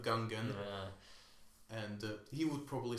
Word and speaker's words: Gungan: probably say things like how george lucas says goongan instead of gungan and he would probably